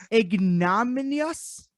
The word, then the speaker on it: Ignominious: Ignominious? Is that how you say it? It's ignominious.